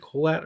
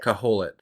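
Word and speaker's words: Kohelet: just to see if is it Colette or how do you how do you say Caholit? Caholit. It is It's K O H E L E T.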